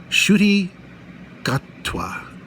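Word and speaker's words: Ncuti Gatwa: I swear this is how his name is pronounced shy gatwa and so uh this new doctor is introduced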